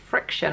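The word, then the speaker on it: Frixion: These are called Friction. I'm pretty sure that's how you say it. It's spelled Frix with an X-I-O-N.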